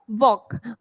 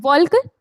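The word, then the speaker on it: walk: वॉक। भले ही इसकी spelling में एल आ रहा है बट इसको क्या बोलते हैं? वॉक बोलते हैं। वॉल्क नहीं बोलते।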